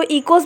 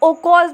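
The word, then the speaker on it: οἶκος: The word ecology is derive from 2 Greek words that is, इसको हम कैसे pronounce करेंगे, 2 टाइप से प्रोनाउंस कर सकते हैं। इसको इकोस भी बोलते हैं और ओकोस भी बोलते हैं।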